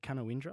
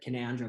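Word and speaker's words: Canowindra: too far from orange is it kanawindra is that how you say it uh it's it's dead canandra but it's canada there you go i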